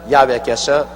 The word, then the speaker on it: 야훼: 왜냐하면 원래 일을 행하시는 여호와, 그 일을 지어 성취하는 야훼 하나님이신데, 야훼라 해도 좋고 여호와라 해도 좋습니다. 그러나 야훼란 말이 더 정확한 발음입니다.